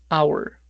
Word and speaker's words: hour: La palabra hora, hour. La H en este caso es muda y en muchos casos va a ser muda. No siempre, pero en muchos casos. La hora se pronunciaría con sonido de vocal.